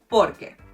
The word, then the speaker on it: por que: Lastly, you do emphasize the por a bit, but you do not separate the sounds: por que. So porque and por que have basically the same pronunciation.